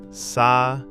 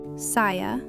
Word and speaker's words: saya: Saya. Saya can mean both I and me. Say it with me. Saya. Saya.